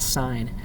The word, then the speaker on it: sine: key that says sin it's actually not sin it's short for sine so you pronounce that sine and it's that that